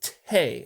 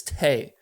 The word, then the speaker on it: te': And again, so I'd have to do the calculations. I believe you have 10 album reactions left to request. So I'll be emailing you after this. Anyways, welcome to Tay, or T. It's pronounced T.